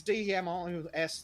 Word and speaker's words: Demos: I want to say Demos. Is D-E-M-O-S the correct spelling there, James? Same pronunciation as democracy.